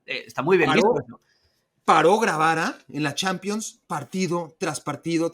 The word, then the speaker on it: Grabara: Es esos partidos merecen que sus que su representante se los grabara. Es que además es grabara, tal cual, es decir, tal cual, tal cual, tal cual, como no es una pronunciación, sino es grabara, Camil Gravara.